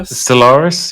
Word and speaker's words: Stellaris: Have I pronounced that right? Yeah, Stellaris, yep.